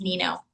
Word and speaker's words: Neno: Nano, welcome to the Reva Experience podcast. I'm so glad you're here. Thank you. And my name's pronounced Nino. Sorry.